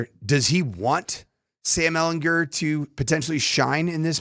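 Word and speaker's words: Sam Ehlinger: It is Sam Ellinger. Hard G, not a J. Sam Ellinger.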